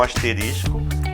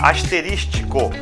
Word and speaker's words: asterisco: até coloquei aqui um asterisco né Observe que não eu não falei a palavra asteristico eu fazer a palavra* e muitas vezes as pessoas também pronunciam errado né esses essa essa